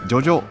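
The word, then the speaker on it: ジョジョ女: ジョジョジョジョ女と書いてジョジなんですけれどもね。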